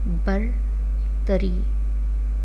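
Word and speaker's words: برتری: बर तरी, बर तरी, बे रे पर, ते रे तर, बे रे बर, ते रे छोटिए री, बर तरी।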